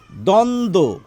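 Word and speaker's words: দ্বন্দ্ব: এবার দেখুন এই শব্দটিতে আমরা কি পেয়েছি এখান থেকে প্রথমে যদি ব ফলা থাকে সেই ব অনুচ্চারিত থাকে তাহলে এখানেও কিন্তু আমাদের বলা উচিত দ্বন্দ কি হলো ব্যাপারটি এই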